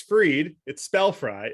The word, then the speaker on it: Fried: One thing that's a little, on topic for the holiday where you eat fried foods, which is that Max Fried, it's spelled fried, even though it's pronounced Fried.